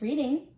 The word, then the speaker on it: Reading: While you may be like me, who likes reading, you need to say Reading when it comes to the name of this town.